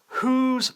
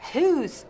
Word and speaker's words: whose: Y eso que digo, whose clothes are these? No, who. Digo, ¿de quién? Whose.